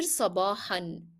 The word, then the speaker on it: صباحا: Here sabahan. You have to pronounce the tanween even if you stop on the word because it is part of the word. Sabahan.